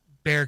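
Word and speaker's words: Bexar: It's I'm sure it's Sanholm, but even still there, you know, it's like it's like Bear County or Beexar County or anything else.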